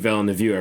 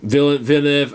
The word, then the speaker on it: Villeneuve: than like, you know, see like a Denis Villeneuve. I forget to pronounce the guy's last name. Villeneuve.